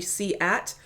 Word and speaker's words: SEAT: now I get the the seat one from Spain it's actually C at but Audi Audi is